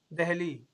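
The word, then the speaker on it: دہلی: দেখেন উচ্চারণ কি হবে উচ্চারণ কি হবে দিল্লি আর কি দিল্লি বলি বাংলায় আমরা উর্দুতে বলব ঠিক আছে আসেন দেহলি তো একটি শহরের নাম মারেফা কোন জাতির নির্দিষ্ট অংশ বা একটি মাত্র বস্তুকে বুঝায়।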